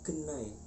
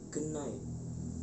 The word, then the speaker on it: gening: Hai seperti contoh Hai api dalam bahasa Osing yaitu genai tapi tulisannya Gening karena berakhir ane akhirnya pengucapannya berbeda menjadi genai kemudian yang spam yang